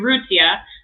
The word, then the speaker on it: Urrutia: me your last name I can't pronounce it because I'm not fluent in my my host language but I say it uruzia my husband would argue with you that it's okay okay